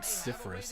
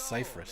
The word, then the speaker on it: Cypress: It's not Cypherus, it's Cypress.